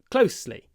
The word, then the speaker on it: closely: bka so closely and when you anounce closely try to do a very short o o closely close closely because before an unvoiced vow an unvoiced consonant like s is an unvoiced GL consonant we clip the vowel OH Close closely okay